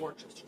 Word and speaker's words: Worcestershire: So I'm going to add 1, 2 teaspoons of that, and 2 teaspoons of Worcestershire sauce. I always call it Worcester sauce. There's like a million other ways that people pronounce it, but anyways.